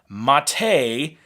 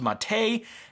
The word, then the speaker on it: MATE: here with Linux Mint 18.3, 64-bit with the Mate desktop environment. Now, I'm always corrected on how I pronounce things in the Linux world, so I